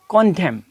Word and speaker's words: condemn: कॉन्डेम, कॉन्डेम। अब एन नहीं, एन यहाँ पर ये साइलेंट रहेगा, तो इसके बारे में हमने आपको बताया है।